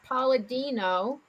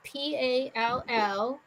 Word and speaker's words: Palladino: Okay, So they went and visited the psychic medium Usapia, which is spelled Eusapia, and his last name is Palladino, which was Palladino.